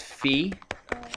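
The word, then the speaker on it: φ: here right there what is how do you pronounce this right here anybody know it's fee and remember kind of maybe sort of physics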